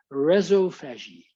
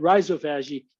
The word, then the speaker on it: rhizophagy: pronounce this word because the Australians pronounce it reso fagi and that's their Australian accent I say it rhizophagy that's my American accent so that's how we